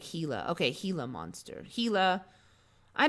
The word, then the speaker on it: Gila: lately it's pretty gross gila is pronounced with an h like gila okay gila monster gila